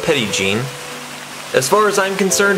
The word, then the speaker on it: Petit Jean: mountain i found out it's locally pronounced petty gene as far as i'm